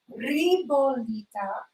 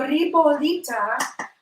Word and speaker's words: ribollita: So, ribollita.